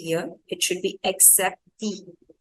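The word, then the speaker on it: acceptée: Acceptee, that's how we pronounce it. So here the first C will have the sound of K only and the second C will become S. That is what same as English. The second is KS.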